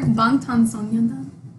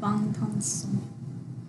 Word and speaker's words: Bangtan Sonyeondan: Their Bangtan Sonyeondan. What's that? BTS. Okay. Bang. Bang. Young. Tan. Tan. Song. Song. Young. Dan. Dan. Bangtan Sonyeondan.